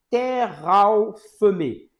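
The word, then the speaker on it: תרפים: Donc au au sens étymologique, en hébreu, ça se prononce terraophemé.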